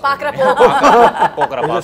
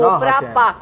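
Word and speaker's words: Kopra Pak: Pakra Park. Keep, keep. Mithai hai, Gujarati mithai, usko hum log pronounce hi nahi kar pa rahe the, aur uske liye hum itna hase. Kopra Park hota hai.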